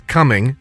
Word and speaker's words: Cumming: The first word is coming, and it's spelled Cumming.